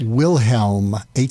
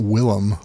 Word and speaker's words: Wilhelm: It's Wilhelm, Helm, not Willem.